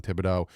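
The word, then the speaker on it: Thibodeaux: Yes, I can pronounce Kavon Tibido because I've practiced saying his name. Yes, you look at this and you're like, "How'd you get Tibido from it?"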